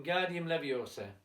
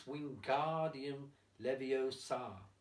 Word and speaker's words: Wingardium Leviosa: arms like a windmill you're saying it wrong how do you do to manage down its Wingardium Leviosa with the GAR nice and long you do it then